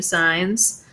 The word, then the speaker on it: Signs: I'd say he's about medium size. Gregory Signs, okay, says the name's pronounced size.